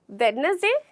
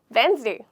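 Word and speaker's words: Wednesday: ये अक्सर मैंने लोगों को गलत बोलते हुए सुना है। वेडनेसडे, मैं वेडनेसडे को आऊँगा, वेडनेसडे नहीं होता, बिल्कुल गलत है। यहाँ पे हमारा जो लेटर साइलेंट होता है वो है डी। तो इसे हमें कैसे बोलना है, इसे हमें इस तरीके से बोलना है, वेंसडे। वेंसडे, बहुत आसान है, वेंसडे।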